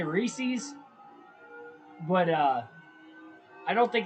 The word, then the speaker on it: Reese's: for this reese's reese's you guys say races and reeses i think the brick like the cornette the correct pronunciation is reese's oh man hard to